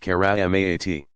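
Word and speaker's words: كرامات: Pronounced mu'jizaat, and those effected by friends of God marvels, karamat, pronounced karamaat.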